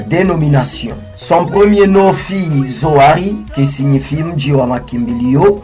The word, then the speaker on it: Zoari: Suite aux difficultés de prononciation de certaines personnes qui prononçaient Joari et certains Zouria, ces noms commençaient à